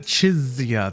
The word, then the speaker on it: Jizya: So she kind of pronounces it Chizya. There's a little more of a Z instead of an S or a C sound.